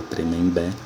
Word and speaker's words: Tremembé: Do mesmo jeito, a palavra Tremembé, que você separa a sílaba, nota que a sílaba tônica é a última e ela termina em E, é uma oxítona terminada em E.